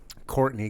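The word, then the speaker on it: Courteney: I was like, No, Courtney. Courtney. Yeah, Courtney So good. Cox. She spells her name with like an extra E in the Yeah. first name or something. But yeah, I was like, no, you shit.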